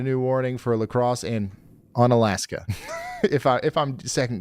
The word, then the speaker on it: Onalaska: Ona Onalaska. On Alaska, just north of Lacrosse. How do you guys say that on Alaska? Okay, cool.